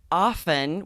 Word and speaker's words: often: then often, we don't pronounce Yes. the T here in Idaho. It's always often, whereas Okay. a lot of places you might hear often and you hear that T.